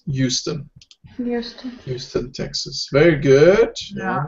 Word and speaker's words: Houston: I know it's spelled with an H, but we pronounce it Houston.